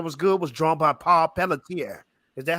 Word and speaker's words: Paul Pelletier: aquaman series that was good was drawn by paul pelletier is that how you say his name paul pelletier yes the the rebirth the dan abner one